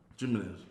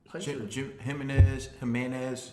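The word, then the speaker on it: Jiménez: The name Jimenez. No. Jimenez. Did I pronounce it wrong? Jimenez. It's all on where the accent is.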